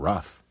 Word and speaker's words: rough: night right light bright at the end of some words gh makes an F sound like in laughs and in tough and rough and even in cough one more time okay